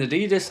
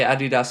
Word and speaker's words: Adidas: I go back and forth, dude. You'll see me one minute saying Adidas and then you'll hear me say Adidas a few minutes later. I jump between both pronunciations.